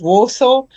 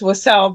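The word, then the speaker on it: Wausau: I want to pronounce it Warsaw. He's Wasau, but okay. I I' I'm I've been proven wrong.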